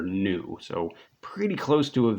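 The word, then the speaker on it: ν: of swish in there this is not quite a v it's the greek letter nu um so if you were kind of phonetically spelling that it's n u is how you say that the frequency is the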